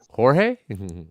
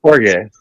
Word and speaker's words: Jorge: for you should probably pronounce his name right Jorge one yeah that's horge could be whatever San